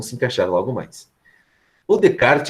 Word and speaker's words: Descartes: de colocar que aprender venecar Descartes mas a pronúncia é renée de kart ele é francês né enfim gente tem que